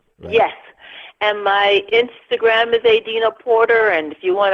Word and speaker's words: Adina: not mispronouncing it because that's how my grandmother pronounced it Adena and it's a family name and it's pronounced Adena but then my mom wanted to make it